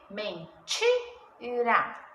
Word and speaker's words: mentira: Sílaba tônica, ti. Tem o i. Mentira.